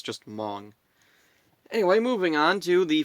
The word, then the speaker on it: Hmong: it, I discovered the Hmong language and I pronounced it Hmong because it's spelled Hmong. So I just assumed, how do you pronounce that? And it turns out it's just Hmong.